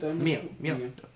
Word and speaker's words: Mio: Mio.